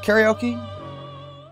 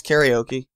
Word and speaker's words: karaoke: Is it karaoke? Yeah, it's karaoke. Or as Yukari would pronounce it, kar-a-oke?